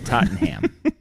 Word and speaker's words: Tottenham: he does it yeah the rest of the world says todd every tottenham fan i've ever seen or heard says tottenham there's no h but he hits the ham pretty hard tottenham so uh yeah so